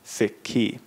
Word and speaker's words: Sikhi: about the relig religion we add the I on the end s i k hi I and it becomes siky now the basically gbani